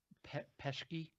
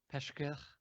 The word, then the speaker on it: Pesce: to talk about what Nikolas pesky Pesce is working on Shay it's only one syllable - which is the